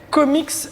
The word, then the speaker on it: Komiks: Alors vous êtes les comics associés avec 2 K. Avec 2 K, ouais. Et- Mais en fait, le S à la fin, il est toujours facultatif, mais tout le monde le prononce en fait.